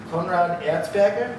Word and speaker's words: Konrad Erzberger: First presentation of the night is from, and again, mispronouncing names is my thing, Konrad Erzberger.